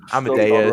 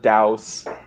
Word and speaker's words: Amadeus: Godfather Part 2, Amadeus. Wrong. I spelled it right. No, No. it's Deus, not Douse. It's A, not A. Get rid of the I don't care.